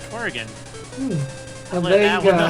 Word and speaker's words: Oregon: And you pronounced it like a true Oregonian would. Because oftentimes it's mispronounced as Oregon. But people native to the state actually pronounce it like you do. Oregon.